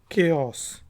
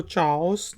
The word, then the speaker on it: chaos: केओस। केओस। केओस अफरा तफरी को कहते हैं, तो इसको चाओस नहीं कहेंगे, केओस।